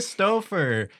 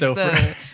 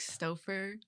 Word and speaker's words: Stauffer: Like Stauffer. bro, you know the like mac and cheese boxes where it's like Stauffer?